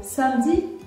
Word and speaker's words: samedi: Par exemple, vous devez comprendre pourquoi je prononce le E dans le mot mercredi, mais je ne prononce pas le E dans le mot samedi.